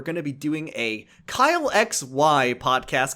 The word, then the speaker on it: Kyle XY: __ ] happens on Kyxy. So, tune in to Kylex coming out like a month or two. Kyle XY. Yeah, you got to say it like Kyle XY.